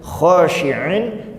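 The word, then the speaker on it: خاشعين: Ada di dalam ayat lain masih dalam surat Al-Baqarah itu kata-katanya begini, hampir mirip ya, kirodatan khosiin, pakainya sa, pakainya hamzah. Kalau tadi pakainya sya, pakainya ain. Khosyi'in dengan khosiin.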